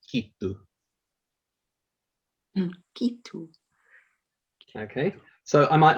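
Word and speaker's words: giitu: You can see that it's spelt G-I-I-T-U, but that G pronounces as K. So we said it's a very similar sound, so G, K, so it's kitu.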